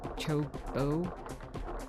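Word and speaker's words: Chocobo: And I I'm sorry if I do say Chocoo incorrectly because it's supposed to be Cho Chobbo. I sorry I've always just pronounced it chocoo because in PS1 we didn't know how to say Chocoo.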